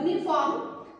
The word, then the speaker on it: uniform: But in case of uniform, this U sounds like YU.